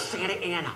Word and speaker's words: Santa Ana: i will never blink they pronounce it santa anna well they're wrong show off it's santa ana are you sure you're